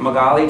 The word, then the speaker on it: Magali: When you want to say her name, Magali, just say, my golly.